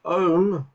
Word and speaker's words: Ohm: named after and because the word om is the first syllable in the letter omega from the greek alphabet we often use omega